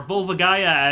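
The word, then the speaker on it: Volvagia: All of them will be eaten by Vvagia, or Vulvagaya, as some people call him. I was going to bring this up. We'll discuss that in a moment. Dad said that Ganondorf has revived Vvagia.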